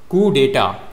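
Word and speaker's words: coup d'état: फिर आपका next word है कुडाटा या दिस वन इज कुडाटा कडेटा का मतलब क्या होता है?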